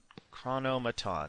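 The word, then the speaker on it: Chronomaton: drop the Invaders and pump up the chronomon chronomon yes that is how you pronounce it and we'll see what he does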